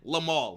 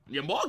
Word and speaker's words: Yamal: Yamal, I said Lamal.